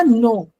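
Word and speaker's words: know: उस बच्चे ने नो तो बोल दिया लेकिन ये नहीं सोचा कि ये पहले के लगा हुआ है तो ये साइलेंट है। क्या है? साइलेंट इसकी कोई आवाज नहीं आती है। लेकिन स्पेलिंग में हम के एन ओ डब्ल्यू लिखते हैं।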